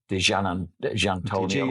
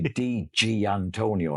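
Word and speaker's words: Di Giannantonio: I used to say Di Antonio, and then I heard someone say Gian Antonio, and I thought, oh, that's the way.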